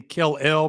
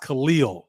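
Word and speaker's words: Kel'el: Khalil, where I was pronouncing his name Kel-El because that's how it's pronounced. That's how it's spelled out, but it's pronounced Khalil.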